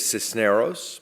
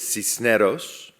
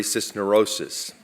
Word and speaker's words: Cisneros: come from Antonio uh my name is cisos pronounced with a Spanish accent it is cisos but I promise you